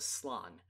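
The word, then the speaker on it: Slann: is a sect of the lizardmen called the slan so in other words toad men that basically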